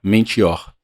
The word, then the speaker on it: mentior: Na língua que influenciou a nossa língua, ou seja, o dicionário latim, se pronuncia mentior, que quer dizer faltar com a palavra dada, fingir ou imitar.